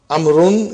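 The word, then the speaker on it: عمرو: As you can see, the proper name Amrun is written with waw, which is not pronounced.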